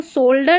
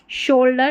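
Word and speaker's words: shoulder: अब इस नीचे वाले को सोल्डर नहीं पढ़ेंगे, इसको हम श पढ़ते हैं, सोल्डर नहीं शोल्डर, एस एच को श पढ़ा जाता है।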